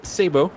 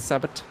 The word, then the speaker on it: sabot: it is pronounced Sabo because it's a French word apparently the more you know